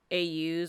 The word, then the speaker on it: AUs: like quirkless deku uh au's all used i say i use i know it's pronounced aus but like because my mind processes the a as being alternate it goes all u's anyway but that's besides